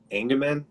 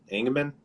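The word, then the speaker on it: Engemann: the songwriting to uh derrick engeman ingman i think is how you say it he's the real tall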